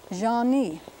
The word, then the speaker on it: jani: Our old Z symbol that we saw a minute ago, as in beige, it's got that sound in it, Jean. The vowel is nasal. And then the next syllable is accented, and it's pronounced ni, jani, sugar.